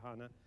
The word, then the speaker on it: HANA: I guess the proper German is a longer A, but the Anglo-Canadian, I will dictate, is a shorter A, so HANA.